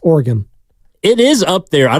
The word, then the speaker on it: Oregon: Eric Armstead Oregon Oregon it's like no it's not origami it's Oregon it is up there